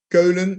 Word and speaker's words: Keulen: Cologne, because in Holland we say Keulen, and in German it's Köln.